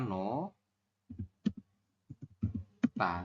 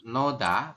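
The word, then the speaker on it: 놓다: betul ya teman-teman iyaoke Jadi kita bacanya bukan Noa tapi nota bacanya nota seperti itu Sampai sini bisa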